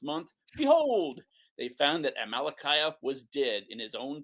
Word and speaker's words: Amalickiah: of the first month, behold, they found that Amalickiah was dead in his own tent of javelin. No, that's not Amalickiah.